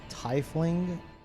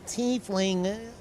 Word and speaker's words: tiefling: There no IE in the English language that says I?